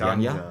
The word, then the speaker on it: Janja: Janja, but for English speakers must write Yanya. So it's pronounced Yanya. Janja. Yanya. So the Janja is pronounced Yanya.